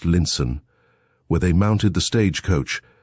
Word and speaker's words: Lionstown: And so on to Lionstown, pronounced Linson, where they mounted the stagecoach, which was to take them across the moor to Camelot.